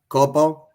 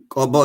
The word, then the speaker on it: Kobo: of Ethiopia, were defeated throughout Maicho, Korom, Weja, Kopo. Kobo is how it's pronounced.